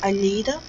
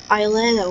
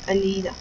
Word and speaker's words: Alida: But, so basically, this girl, the woman's name is Alida, not Aileda, or how it's written in English, the correct pronunciation is Alida.